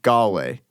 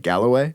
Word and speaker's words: Galway: I went ahead and impressed you by mispronouncing Galway. I guess he pronounced it like Galloway.